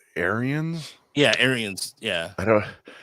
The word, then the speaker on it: Ariens: I think it's Arians.